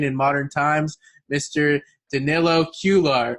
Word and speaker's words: Cuellar: Danilo Cuellar. How do you say it? Cuellar, no problem.